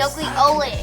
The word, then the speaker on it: nucleolus: Nucleotis? Nucleus, no. It's not nucleus, nucleolus.